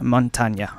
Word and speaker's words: Montagne: All memes aside, today we're going to talk, as requested, about Montagne. And yes, that is how you pronounce it.